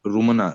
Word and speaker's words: रुमाना: रुमना, रुमना नाम है कि रुमाना है? रुमाना। रुमाना।